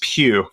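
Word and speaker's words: Pugh: It's Pew. Florence Pew. I had to look it up. I I had to make sure I looked it up just to be sure. I wasn't I wasn't gonna dork that up. Um because it's not easy.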